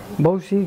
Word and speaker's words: Wouzee: del mundo que dejamos que la gente lo pronuncie como quiera mientras sepa escribirlo entonces bowsy que es w o uze es viene de